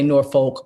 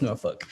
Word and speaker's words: Norfolk: norfolk virginia and um i say norfolk but that ain't how they say it so you know in jersey we say norfolk but it's norfolk so um they're down